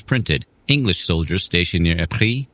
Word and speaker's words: Ypres: English soldiers stationed near Ypres, which they mispronounced as Wipers, in Belgium found an